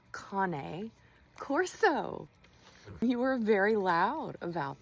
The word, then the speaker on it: Cane Corso: A lot of you not know that it is actually pronounced Cane Corso. You were very loud about that, but that's okay because we're all learning. It's making your brain itch so much. Just say Corso.